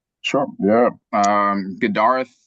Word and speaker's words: Gadareth: Um, Gdarth, that's how you pronounce my my name.